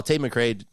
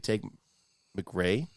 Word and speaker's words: Tate McCrae: onear is three oh Tate McCrae take McCrae take mcra Tate McCrae no Tate mcgrae t how do you say her name Tate McCrae Tate McCrae is it Tate McCrae yeah he says it in the song too you listen to your